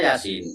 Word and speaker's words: Yasin: Yasa tulisannya Yasa tapi bacanya Yasin.